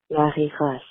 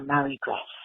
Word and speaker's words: Marie-Grace: in my American accent, I just call her Marie Grace or Marie Grace. I actually have an aunt, and her name is spelled like Marie, but we call her Mari. So I kind of use that same rule.